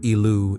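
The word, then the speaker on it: Ilu: deep appealing to the high God l pronounced elu in ugaritic L resides at the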